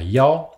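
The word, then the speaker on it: 幺: dire ou, Yao, Jiao, le 1 ici se prononcera Yao, et Yao, donc ou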